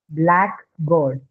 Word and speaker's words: blackboard: Like, for example, you have something like a blackboard. So where is the stress in blackboard? Blackboard. The first syllable.